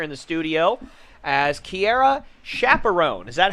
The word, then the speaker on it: Chaperon: But more importantly, I have a special guest joining me here in the studio as Keara Chaperon. Is that how you pronounce Chaperon?